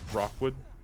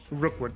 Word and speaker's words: Rookwood: of them kill uh Rockwood I'm saying the name wrong again but it's Victor right Rookwood yeah Victor real quick you're